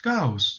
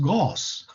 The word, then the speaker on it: Gauss: and um another german mathematician named gauss it's pronounced gauss it's not pronounced gauss right and um and when you can it's